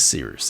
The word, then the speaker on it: Cyrus: My name is Seeroost. It's spelled like Cyrus, pronounced like Sea Rooster. Just take out the tur.